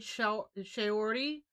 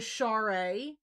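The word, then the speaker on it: Sha're: I think, that played Shaori, and they changed the pronunciation of her name too to Share because Michael Shanks could not pronounce her name the way it was done in the movie.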